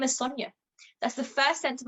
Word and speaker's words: Sonya: you know in one business they got my name wrong for six weeks my name is sonja that's the first sense of identity you have